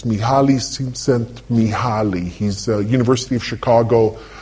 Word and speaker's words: Mihaly Csikszentmihalyi: from a psychological perspective, and I can never pronounce his name, but it's Mihaly Csikszentmihalyi.